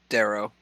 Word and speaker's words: Duerro: Yeah, it's Darrow.